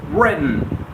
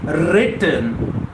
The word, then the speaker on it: written: Write, wrote, written. Well, I never say written. I always say written, written, written, written.